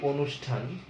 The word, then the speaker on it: অনুষ্ঠান: আমরা যদি একটা শব্দ বলি অনুষ্ঠান, যেখানে মূর্ধন্য স আছে, অনুষ্ঠান, এখানে কিন্তু মূর্ধন্য স আছে, অথচ উচ্চারণে এটার উচ্চারণে আমরা লিখছি কি, অনুষ্ঠান, এরকম লিখছি উচ্চারণটা। তাহলে আমরা দেখছি যে এখানে স কিন্তু মূর্ধন্য স এর বদলে আমরা তালব্য স উচ্চারণ করলাম, ফলে আমাদের এই মূর্ধন্য স এরও কিন্তু কোনো উচ্চারণ নাই।